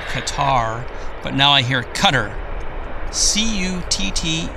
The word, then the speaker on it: Qatar: now Kari flight or Cutter I think they call I think the pronunciation is cutter as in c t t e r cutter I always used to call it Qatar that was in the